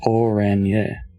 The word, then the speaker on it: Orange: Orange is pronounced Oranje.